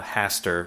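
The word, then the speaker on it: Hastar: god in particular uh haster which i kind of love because of the lovecraftian hastert not spelled the same but yeah it sounds the same yeah um haster is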